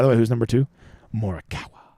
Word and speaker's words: Morikawa: Morikawa. Or how the British say it. Can someone please explain to me why the British always call him Morikawa? Like, where the fuck does that second R come from?